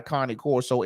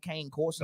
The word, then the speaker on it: Cane Corso: So, and she's got a Connie Corso as well that they sent off to training.